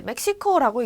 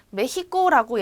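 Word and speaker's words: México: 그래서 이제 멕시코라고 읽는 멕시코 사람들도 있어요. 하지만 메히코라고 옛날에 말을 했다라는 거 그리고 지금도 더러 얘기를 하고 있다라는 걸 여러분들이 알고 계시면 됩니다. 메히코 이렇게.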